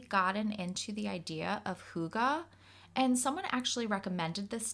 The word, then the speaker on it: hygge: Huga spelled h y g g e is pronounced Huga but I've also heard pronunciations of Huga I did not know the pronunciation and I'm